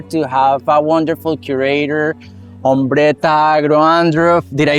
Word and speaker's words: Ombretta Agro Andruff: have the pleasure to have a wonderful curator, Ombretta Agro Andruff.